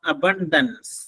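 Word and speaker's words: abundance: ഒപ്പക്ക് next opposite of അബണ്ടൻസ് എ ബി യു എൻ ഡി എൻ സി എ ബി യു എൻ ഡി എൻ സി അബന്ഡൻസ് അതിന്റെ ശരിയായ ഉച്ചാരണം അതാണ് അബണ്ടൻസ് എന്നാണ് ഉച്ചാരണം അതിന്റെ മീനിങ് സമൃദ്ധി അല്ലെങ്കിൽ സുലഭത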